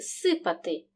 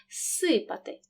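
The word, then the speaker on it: зсипати: оглушується наприклад у слові сипати префікс з перед глухим с тому він переходить у парний глухий маємо два звуки с тому в транскрипції показуємо один подовжений звук сипати слиз цілити префікс з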